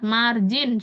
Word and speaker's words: margin: Tadi kita bahas ingat margin. Cara mudahnya kan bacanya margin ya. Walaupun tulisannya G kita bacanya kan margin.